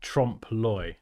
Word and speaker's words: trompe-l'oeil: Oh, it's pronounced trompe-l'oeil.